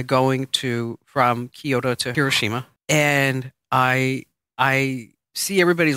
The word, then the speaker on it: Hiroshima: order to get to Hiroshima okay we say hoshima yes it's not the proper it's Hiroshima okay because I learn